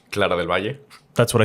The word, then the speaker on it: Clara del Valle: Clara del Valle, pronunciation? Clara del Valle.